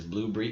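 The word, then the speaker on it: Blubrry: I like to pronounce it in my mind as Blueberry because they don't have the E in there.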